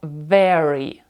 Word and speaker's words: very: ми говоримо very дуже слово very дуже починається слово з літери V ми її говоримо кладемо зуби на нижню губу very very very well Very Well два слова і оце звук в вимовляється по-іншому very well шановні глядачі підписуйтеся на